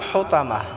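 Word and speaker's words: الحطمة: মাল হুতামাহ, এখানে আমরা হাটাকে গলায় চাপ দিয়ে উচ্চারণ করব।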